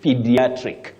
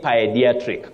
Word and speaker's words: pediatric: okay Canal not colonal then lastly pediatric pediatric pedri please don't say pediatric common but wrong then we have Kelly